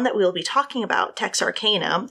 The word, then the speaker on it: Texarkana: her about it and I was calling it Tex Arana cuz that's just I don't know what I naturally thought she's like no no no it's Tex Arcana but she was joking like oh no no